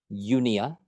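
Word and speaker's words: eupnea: some fun ones here unia again silent P because we're Americans Yia refers to normal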